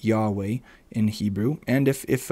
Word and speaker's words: Yahweh: believe that the name of god was originally pronounced yahweh in hebrew and if if um if it's